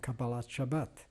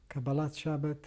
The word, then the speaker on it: Kabbalat Shabbat: a mother's prayer and Kabbalat Shabbat Kabbalat Shabbat or cabela's Shabbos depending in which particular pronunciation of Hebrew you prefer is the welcoming of